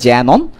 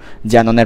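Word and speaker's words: xenon: কে একটা কে থাকবে সামনে, কেটা উচ্চারিত হবে না, যেমন আমরা যেমন অনেক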